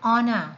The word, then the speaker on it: honor: hourglass we say an honor so we have a medal given to someone and honor right and honor the h here again is silent we do not say